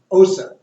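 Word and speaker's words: Xhosa: It's Osa. Can you do it? Osa. well, Now you're going Osa.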